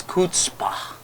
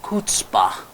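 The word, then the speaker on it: chutzpah: CH u t z pH he got the pronunciation incorrect it's kpah the word kpah I repeat the spelling c h u t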